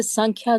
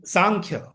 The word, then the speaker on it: सांख्य: हां please please in answer one second in answer Krishna affirms that the संख्या गोस by knowledge and रनंसिएशन सांख्या जीती सांख्या संख्या नहीं सांख्य द सांख्या गोस बाय